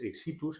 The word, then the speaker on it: Éxitus: es, bueno, realmente es exitus, es el término médico. Aquí, como palabra llana pronunciada, lo hemos puesto con tilde en la pronunciación. Sí, porque no lo lleva, además.